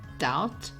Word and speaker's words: doubt: to a silent k b is also silent before T and also after M for example doubt tomb lamb or comb the letter W gets